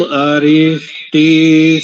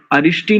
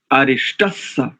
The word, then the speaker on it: अरिष्टः: 3 त्रुटियां हैं, अरिष्टि नहीं, अरिष्टस्स। या अथवा आप विकल्प से ऐसा भी कर सकते हैं, यदि आपको विसर्ग का सकार उच्चारण करना नहीं आता है, अरिष्टः समर्थो एक।